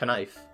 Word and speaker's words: knife: maybe that's why we dropped the k in kenif it's pretty simple when it's put that way right if those other languages didn't pronounce like that maybe the impact of foreign speakers changed it wait i said kaneef not knife oh yeah the vowel